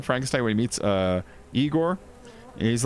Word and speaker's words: Igor: Frankenstein remember Young Frankenstein where he meets uh Igor he's like dr. Frankenstein it's pronounced Frankenstein and you're Igor now it's pronounced